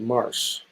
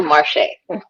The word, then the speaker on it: Marche: Next, we're going to have Marche, or is it Marsh? Did I say it right? I don't want to. It's a Marche. So hi, everybody. I'm Marche.